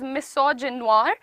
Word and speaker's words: misogynoir: Now this is pronounced as misogynoir and it is the specific hatred, dislike.